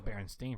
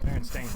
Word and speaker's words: Berenstain: Because I swear it was Berenstein for the longest time. It's Berenstain, right?